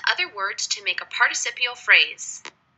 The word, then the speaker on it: participial: words to make a participial phrase note the difference in spelling and the pronunciation participle participial participial phrases pushing with all